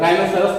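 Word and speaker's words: rhinoceros: उसी प्रकार से यहाँ देखिए आर के बाद एच आ रहा है तो यहाँ पे देखिए आर के बाद एच का कोई उच्चारण नहीं, राइनोसोरस पढ़ा जाएगा इसे, राइनोसोरस मैंने बताया गैंडा, तो आर के बाद एच का उच्चारण में नहीं करना।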